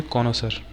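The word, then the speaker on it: connoisseur: ठीक है, प्रोनाउंस क्या करेंगे? कॉनोसर।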